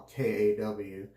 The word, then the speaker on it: Kaw: known as the Kaw, K-A-W, spelled the same as the K-A-W in Holy Cow soaps, I guess it is, but it's pronounced Kaw.